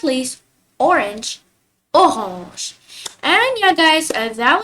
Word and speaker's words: orange: And orange in French we pronounce it as orange. So like the AN in French we pronounce it as on instead of an, like in English. So it becomes orange.